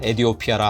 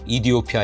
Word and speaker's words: 에티오피아: 가름 하진 못할 것입니다 사실 그들의 국명은 우리의 외국어 표기법 에 따라 에디 오피 알아 하지만 현지 발음은 이디오피아 에 가깝다고 합니다 대사관에서 도 그렇게 불러 주길 바랍니다 그래서 마지막으로 그들이 원하는